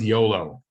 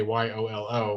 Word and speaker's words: YOLO: Same with YOLO. You only live once. We took the first letter. We don't say Y-O-L-O. We say YOLO as if it was a word.